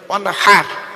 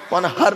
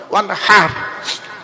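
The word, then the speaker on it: وانحر: এই গলার ভেতর থেকে এটা উচ্চারণ করবে, ওয়ানহার, ওয়ানহার নয়, ওয়ানহার।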